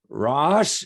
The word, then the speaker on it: Rach: said your name and i said rash and i have i said your name wrong each time no you're nailing it perfect perfect well in that